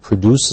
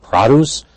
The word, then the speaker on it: produce: Produce, notice this pronunciation, not produce is the verb, but the noun produce, referring to fruits and vegetables at the grocery.